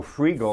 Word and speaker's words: Freegal: But I mean, it is spelled that way, right? Yeah. Free and then G-A-L. Exactly. Oh, Freegal. Freegal.